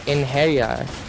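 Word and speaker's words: Einherjar: But yeah, the actually pronunciation is Einharjar. It's like Einharjar. Yeah, Einharjar. So I wasn't far off.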